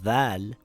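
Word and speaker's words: ظاء: It is pronounced similar to the letter dhal, but it is pronounced with a heavy sound, dha.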